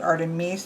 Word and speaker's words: Artemis: Here we have Artemis and Artemis, I think is how he pronounced it, Artemis. The I was more like an E, who is the sister of Apollo, who we'll see next.